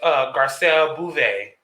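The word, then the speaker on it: Garcelle Beauvais: So it says Garcelle Bouvet. That's how you pronounce her name.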